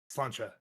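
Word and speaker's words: Sláinte: Slancha.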